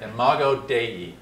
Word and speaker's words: imago Dei: God in some sense in mago day which is the Latin for image of God already say it because we're not very good at pronouncing it imago Dei good you'll remember it